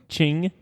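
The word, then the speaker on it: Qing: on your board or are the two chin q i n Ching q i n g well here goes nothing all right Mike says chin Kevin says Ching Andy says chin chin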